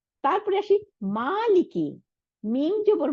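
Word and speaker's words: مالك: আলিফ বা তা আসার এই আলিফটার কোনো উচ্চারণের আওয়াজের নাই, আওয়াজ সাউন্ড নাই। এটা কি করলো? শুধু লম্বা করার, জবরটাকে লম্বা করলো, মালিক।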